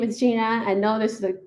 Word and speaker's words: Xinran: My name is Gina. I know this is a name that's kind of hard to pronounce, but the trick is that the X is pronounced like SH.